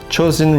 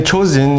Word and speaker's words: Chosin: marked a killing ground Chosun reservoir and it is the name which echoes through history the name chosen is derived from the Japanese pronunciations of Chinese characters Tong Jian the November